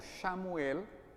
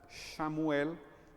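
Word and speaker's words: שְׁמוּאֵל: Y de hecho, nada más el nombre de Samuel, que en hebreo se pronuncia algo como Shamuel, significa aquel que escucha a Dios.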